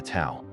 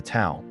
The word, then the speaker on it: Tao: At the very center of Taoism is the concept of the Tao pronounced Dao.